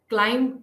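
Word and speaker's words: climb: words में नहीं है जैसे क्लाइम को अगर हम देखते हैं क्लाइम में बी जो है वो साइलेंट है हम बी को नहीं प्रोनाउंस करते हैं बल्कि हम क्लाइम तक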